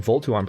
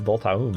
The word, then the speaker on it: Voltaum: I think I was saying Voltuum previously, but now that I look at it, it's Voltaum.